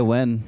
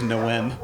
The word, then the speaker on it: Nguyen: Yeah, you can just say Ty Wen. It's just Wen. I thought it was Nguyen.